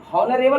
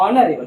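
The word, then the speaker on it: honourable: क ख ग घ से घिया तक का उच्चारण निकले, वॉइस निकले तो वहाँ ए लगाएंगे, लेकिन यहाँ तो ऑनरेबल नहीं पढ़ेंगे, इसको ऑनरेबल पढ़ेंगे, एच साइलेंट है बच्चों, तो ऑनरेबल है तो इसीलिए इसमें एन लगेगा।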